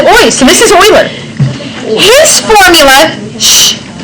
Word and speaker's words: Euler: Does it look like it should be spelled with an EU? No? But should Kirkendall be spelled with a Y? No. Not in English. But guess what? It's not English. Shh. Different languages use different letters for different things.